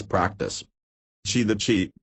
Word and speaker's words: qi: its practice she the chief pronounced as chi is a difficult word